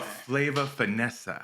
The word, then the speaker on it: Flava Finess'a: chef you're not just a chef you're a flavor finessa correct is that did I get that right yeah I love the pronunciation that you take your time it was